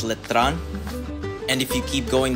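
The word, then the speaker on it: Letran: is a university right across from it called lron let me pronounce it correctly it's letron and if you keep going down the road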